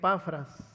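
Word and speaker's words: Epafras: lo que dice como lo habéis aprendido de zafras así se pronuncia nuestro con ciervo amado qué es un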